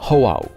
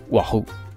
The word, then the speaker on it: O'ahu: And there is the apostrophe, which create a kind of pause in the word, like in Oahu. Otherwise, it would be like Wahoo.